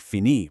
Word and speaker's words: fini: For IR verbs, like finir, you just drop the R, leaving you with an I to make fini, pronounced fini.